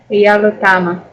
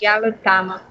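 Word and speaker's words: jalutama: Ну-ка прочитайте правильно, чтобы ударение было на первом слоге всюду. Ме И чтобы на других слогах не было. Кейсиме. Вот, Паргис, вот. Ялутама.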